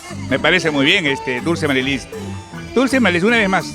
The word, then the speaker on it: Marilyz: Dulce Marilis, pero Dulce Marilis así como se escribe.